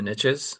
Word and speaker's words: niches: And it's it's basically the riches are in the niches is how it's pronounced.